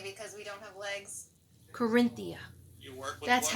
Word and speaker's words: Qurinthea: Corinthia.